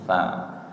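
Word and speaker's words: ث: Sedangkan syinnya itu tengah lidah. Nggih itu di penulisannya kalau istilahnya mangkoknya dua. Kalau yang mangkoknya satu tsa. Kalau yang mangkoknya dua syin yang tengah lidah. Nggih. Jadi hampir sama pengucapannya tapi beda tempat keluarnya huruf ya. Tsa itu ujung lidah menyentuh ujung gigi siri atas. Kalau syin tengah lidah yang naik ke langit-langit mulut ng faqulu minha haitsuum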